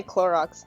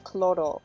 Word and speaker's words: Clorox: Then again my mom she can't say Clorox though. She says chloro because that's how you say it in Spanish.